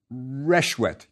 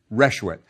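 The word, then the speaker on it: ršwt: How would you pronounce it? Reshwet. Good. That's right. Reshwet.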